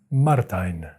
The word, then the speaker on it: Martijn: the work of martin martin i believe it's martin because he is dutch and i just did some googling and that is seems to be how you pronounce this name in dutch martin okay maybe i'm